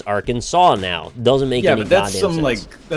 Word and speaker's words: Arkansas: We don't say Arkansas either, but who cares, right? Yeah, but that's like, we still say it how you could. Like, it's one silent letter.